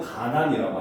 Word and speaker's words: 간난: 그래서 한자로 보면 원래는 간난이거든요. 근데 여기서 보면 니은 니은이 연달아 나니까 우리말에서는 가난이라고 한다는 거죠.